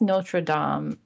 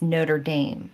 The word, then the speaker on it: Notre Dame: I think it's Notre Dame if it's French. Okay. But if you're American, it's Notre Dame.